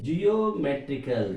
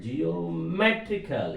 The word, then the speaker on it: geometrical: So trickle, if you remove the preceding syllable me, that means geometrical, geometrical, M above.